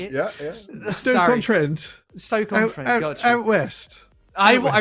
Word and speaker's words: Stoke-on-Trent: Stoke-on-Trent? Is that how you say it? Yeah. Stoke-on-Trent.